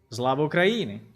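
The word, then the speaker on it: Слава Україні: Slava Ukraini.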